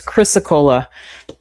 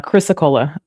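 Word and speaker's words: Chrysocolla: It's Chrysacola. I just always have to look at it very carefully. Chrysacola, like Pensacola, but Chrysacola.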